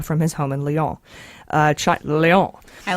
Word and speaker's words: Lyon: Lyon. I like that. Actually French. It's not pronounced lion. Wait, Leon? L-Y. Oh. Lyon. I like it, yeah.